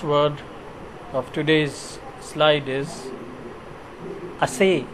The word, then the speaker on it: assay: Last word of today's slide is assay and assay. You need to pronounce it differently. Assay is a verb.